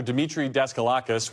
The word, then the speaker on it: Demetre Daskalakis: Demetre Daskalakis, one of the several top CDC officials who resigned in protest last month following Dr.